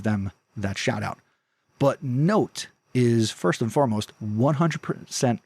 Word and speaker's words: Knowt: And the next thing I want to recommend in this episode is Note. And Note is spelled KNOWT.